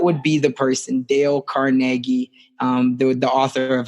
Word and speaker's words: Carnegie: say it would be Dale Carnegie um go Carnegie is I think actually how you say it and that's the author